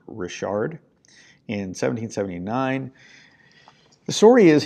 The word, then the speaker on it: Richard: captain the bottom Rashard it's not Richard it is pronounced Rashard in 1779 the story